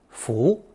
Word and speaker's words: 扶: This character is pronounced second tone, 扶, and naturally meant to correct or to straighten.